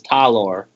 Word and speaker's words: Talor: No, it's Talor. Taylor. Talor. Talor. I'm pretty sure he just spells his name wrong. There's no Y.